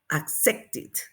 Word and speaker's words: accepted: Igual tenemos aquí accept, accept. Entonces el sonido final es en T, porque suena la T. Entonces vamos a agregar id para el pasado o ed para el pasado. ¿Y cómo lo vamos a pronunciar? Igual agregamos, pronunciamos id. Accepted, accepted.